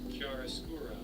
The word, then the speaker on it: chiaroscuro: So for those of you who want to know how to pronounce that fucking word, Chiaroscuro.